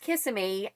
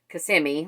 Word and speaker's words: Kissimmee: the audiobook pronounces it kissimmee it's actually not pronounced kissamy i think she probably knows that but she thought that it would just sound funnier to say kissamy as as opposed to kissimmee which is how it's actually said so i